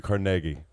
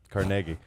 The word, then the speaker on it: Carnegie: tape historical uh because in scotland that's how his name is pronounced no but jason always